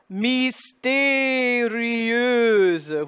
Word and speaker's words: mystérieuse: The M-Y becomes, substitute an I sound for the Y. And you get E. Accent aigu, the acute accent on the E. Mystérieux. There's that E-U again by itself. That EU spelling, and then voiced Z because it's between two vowels, intervocalic.